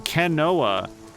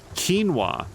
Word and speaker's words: quinoa: heard it said what what's the correct pronunciation give it give it to me phonetically and then I will know is it kinoa qu quinoa oh I have heard